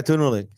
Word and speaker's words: Tunulik: Is it pronounced Tunulik? Yeah, Tunulik. Okay, perfect.